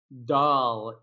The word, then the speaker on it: doll: one by the way we call it a doll doll it's a little difficult to pronounce for some languages doll doll that's the